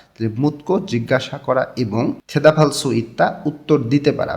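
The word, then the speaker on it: 대답할 수 있다: মুত্তা মানে জিজ্ঞাসা করা, তাহলে মুতকো জিজ্ঞাসা করা এবং থেদাফালসু ইত্তা উত্তর দিতে পারা। বিয়োগটা হিউতের স্থানে গিয়ে ফয়ের মতন উচ্চারণ হবে।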